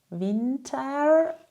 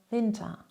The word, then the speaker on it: Winter: Im Deutschen spricht man ER am Wortende meist wie ein kurzes A. Das bedeutet, du sagst nicht Winter mit einem starken ER, sondern eher Winter. Winter.